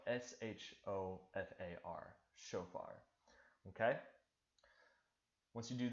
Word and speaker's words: shofar: you to just write out, what is a shofar? I just laid it out for you. It's spelled S-H-O-F-A-R, shofar.